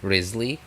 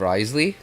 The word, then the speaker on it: Wriothesley: number of people that call him Risley uh instead of risely which was what I heard them say his name as in the special program um I might as